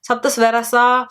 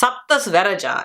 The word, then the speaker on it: Saptasvaraja: Even Tamil people, funny enough, Tamil people are like, Saptasvaraja, Saptasvarasa. Like, I'm like, it's Saptasvaraja.